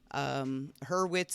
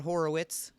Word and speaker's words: Hurwitz: Hurwitz is only 2 syllables, and it's not Horowitz.